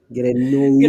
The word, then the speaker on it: Grenouilles: Grenouille.